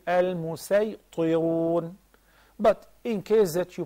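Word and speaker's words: المسيطرون: long with four counts, then you pronounce it as regular sad. You say al-musaytirun. In any case, al-musaytirun, plural of musaytir, a person who is dominator.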